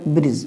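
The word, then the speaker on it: bridge: हमने डी को साइलेंट रखा हमने डी को साइलेंट बोला क्या मैंने बोला मैंने बोला ब्रिज ब्रिज मतलब पुल अब यहां देखो बजट क्या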